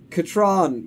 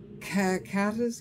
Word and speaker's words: Katron: Her name is Katron, but Atris couldn't pronounce that, so she went with Catherine, which is what he called her. Oh! Catas?